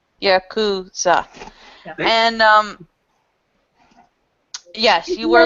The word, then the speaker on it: Yakuza: It's pronounced Yakuza. Yakuza. Yakuza. Just think of it this way. Start saying Yahoo, but say Yaku. Yakuza.